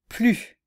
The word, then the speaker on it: plus: danse plus que le tennis voilà vous pouvez essayer de